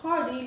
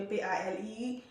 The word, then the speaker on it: party: Pendant plusieurs côtés on est passé, mon temps pour dire party, il dit pali. Par contre comment yo appelé li ou pas, il va obligé P-A-L-I.